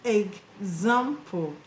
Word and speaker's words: example: When you have EX at the beginning of a word and after the EX you have a vowel letter. Now the EX will be pronounced eggs, eggs, eggs.